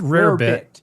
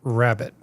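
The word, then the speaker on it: rarebit: It's spelled rare bit, but it's pronounced rabbit.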